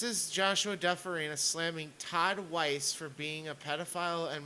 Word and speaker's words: Weiss: It's Weiss, but continue.